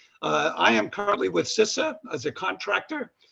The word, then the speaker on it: CISA: and infrastructure security agency pronounced sissa not cisa but sissa previously i worked over